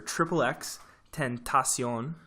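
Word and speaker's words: XXXTentacion: sad bye xxx or xxx tent asean which is a little Spanish flair there it's the proper pronunciation I think that might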